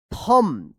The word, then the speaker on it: thumb: My थम, THUMB, थम पढ़ेंगे इसको, थंब मत पढ़िएगा, थम, HURTS, हर्ट्स, BECAUSE, because,